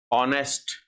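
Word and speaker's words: honest: ऑनेस्ट S silent है।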